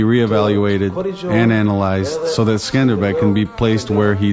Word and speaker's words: Skanderbeg: of five thousand cavalrymen thereafter called iskander bay lord alexander albanian and western pronunciation altered it to the name that the world shall forever know him by skanderbeg in the 1430s the